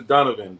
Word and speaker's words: Donovan: are you so Donavan let me know if I'm pronouncing your name correctly Donavan or Donovan C Erica likes to call you Donavan my name is Donovan Donovan Donovan Donan Donan